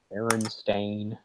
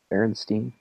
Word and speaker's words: Berenstain: like most people remember it as Stein or I always said Steen. I always Steen, said Berenstain. Steen, yeah. Berenstain. The Berenstain Bears. To me, that just sounds. But if you were going to spell that, you wouldn't spell it the way it's spelled, right? Like, I mean, before we talked about this. Yeah, I don't know. Like you said, it's Stain, which for some reason I